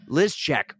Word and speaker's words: Lyszczak: and we're wicked excited to have the bearded runner on the podcast, Lizchek. Welcome to the On the Runs podcast finally. Woo! Thank you for pronouncing my last name correctly.